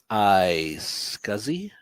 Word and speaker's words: iSCSI: feature let me see if i'm pronouncing this correctly i scuzzy yes you are okay iscsi target server